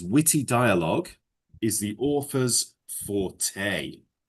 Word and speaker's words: forte: But it's pronounced forte. Forte. Yeah. It's a French word.